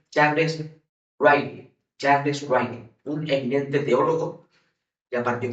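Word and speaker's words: Ryrie: Otro autor llamado Charles, se escribe Charles Ridley, pero se pronuncia Charles Riley, un eminente teólogo, ya partió con el Señor, eminente pensador, allá en el seminario teológico de Dallas.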